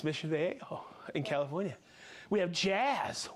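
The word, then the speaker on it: Mission Viejo: You thought I was going to mispronounce that. I really did. Yeah, it's Mission Vejo in California.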